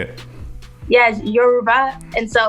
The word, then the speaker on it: Yoruba: Yeah, Yoruba, and so you have to almost say it like a song, like Yoruba, like you're rapping or something. But because some people say Yoruba, and Yoruba is just it's not wrong.